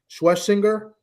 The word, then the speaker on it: Schwesinger: Um uh uh the guy Carson Schwesinger, that's his name. That's how you pronounce him.